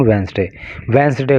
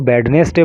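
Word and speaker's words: Wednesday: गए इन Manali on वेंसडे को मनाली के अंदर। देखिए, जो भी व्यूअर्स मेरे चैनल पर हैं, अगर कोई इसको वेडनेसडे बोलता है तो प्लीज़ वेडनेसडे मत बोला कीजिए। इसका जो सही प्रोनाउंसिएशन है वो वेंसडे है, ठीक है।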